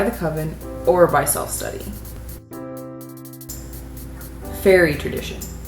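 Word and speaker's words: Feri: Fairy tradition. Here, fairy is spelled F-E-R-I, but yes, we are talking about the stereotypical small-winged people, fairies.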